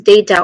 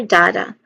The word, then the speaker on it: data: Um, that is data or data. Now we try to focus on data. First syllable day. There's a schwa sound here. Ta.